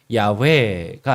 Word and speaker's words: 야훼: 음역이 되어 있는 여호와를 보통 언어학자들은 아마 이게 원래 발음은 야훼가 아니겠는가 이렇게 보통 추정을 하는 거죠.